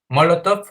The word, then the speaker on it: Molotov: ministro de asuntos exteriores con acento en la primera o que si no es no es la banda mexicana de rock es bueno ya el prueba